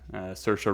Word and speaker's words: Saoirse: And I mean, it goes to show, you know, Emma Watson, I cannot pronounce her name. Saoirse Ronan. Saoirse Ronan, thank you.